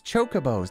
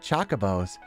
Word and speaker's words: Chocobos: chabos in the finals the pronunciation is all wrong it's chocobos not chabos that's funny cuz I